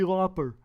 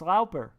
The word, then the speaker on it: Lauper: say her name right a lot of people say cindy loper lauper so she's an l-o-p-p-e-r it's lauper cindy lauper if you say it